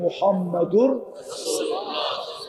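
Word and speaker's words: মুহাম্মাদুর রাসূলুল্লাহ: সঠিক উচ্চারণ হলো মুহাম্মাদুর রাসূুল্লাহ।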